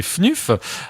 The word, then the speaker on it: Fnuf: Alors moi je dis Fnuf, mais c'est Fnuf. Voilà. Ça s'écrit FNUF.